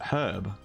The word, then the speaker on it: herb: can we say her we actually pronounce the beginning of that word herb we don't say an